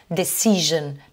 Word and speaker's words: decision: Vous avez le S qui se prononce comme un je. Alors ça, on le retrouve dans certains mots, comme tous les mots qui finissent par S-I-O-N. Decision, television. Hein, vous constatez que là, ce S, il se prononce avec le son je, comme dans Asia.